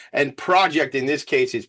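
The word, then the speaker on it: Projekt: Focus is spelled P H O C U S and project in this case is P R O J E KT project baby.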